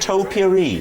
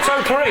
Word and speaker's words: topiary: Did anybody notice he went topiary? It was like a wonderful mixture of trimming a hedge and a little bowl you have of things that smell nice. I say topiary.